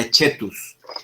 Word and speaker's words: coetus: se escribe en latín coetus se pronuncia h tus que tus quiere decir